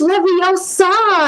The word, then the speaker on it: Leviosa: They like, it's Leviosa, and I'm like, oh, okay.